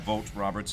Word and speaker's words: Vogt-Roberts: where does it joint John Jordan boy wrote vogt-roberts vote properly that's how it's pronounced yeah vote Roberts is gonna be making a Metal Gear film